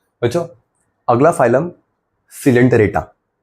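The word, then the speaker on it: Coelenterata: बच्चों अगला फाइलम सिलेंटेटरेटा। ओ साइलेंट है और नाइरिया में सी साइलेंट है। सिलेंटेटरेटा नाइडेरिया।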